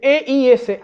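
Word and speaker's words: εἰς: Cuando dice a fin de que seáis, o a fin de que sean, ahí en griego se escribe E-I-S, eis, ¿tá?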